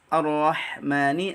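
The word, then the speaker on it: الرحمن: Jadi ha Ar-Rahman, huruf ha pada lafaz Ar-Rahman itu jangan ditukar, jangan diganti dengan kha, karena itu termasuk lahnul jali, mengubah makna.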